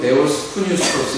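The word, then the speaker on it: θεόπνευστος: 감동이란 뜻은 뭐냐면은 문으로 데오스 스토스 이렇게 발음을 하는데 그 뜻은 신의 바람을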